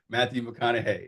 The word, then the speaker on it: Matthew McConaughey: Matthew McConaughey.